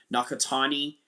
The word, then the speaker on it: Nakatani: Inoue versus Nakatani. Yeah, mispronounced his name there. Nakatani.